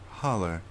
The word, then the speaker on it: hollow: Lady of Trace Licking Hollow, or Holler, as he liked to pronounce it.